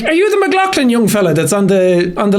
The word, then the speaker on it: McLaughlin: And he was like, did I pronounce that right? And I said, no, it's McLaughlin. He was like, oh, McLaughlin, where are you from?